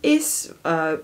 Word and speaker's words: Ys: a lot of inspiration from is which is spelled ys and it's a legends